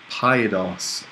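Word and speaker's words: παιδός: Paidos. Okay. And note the accent here is actually on the last syllable.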